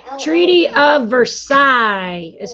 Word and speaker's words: Versailles: you don't even have to say treaty of versailles is how you say that french words have